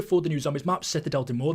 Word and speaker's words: Citadelle des Morts: the new zombies map setad Del de Mo that's how you pronounce it apparently according to them and the release date